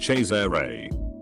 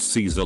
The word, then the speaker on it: Cesare: There was this kid in my class named Cesare, pronounced Cesare, but everyone thought it was pronounced Caesar like the salad.